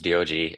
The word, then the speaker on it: Dioji: Yeah, well, his name is Dioji, and he always says jokingly that you can just say DOG, and it's the closest thing that'll sound like how to pronounce his name.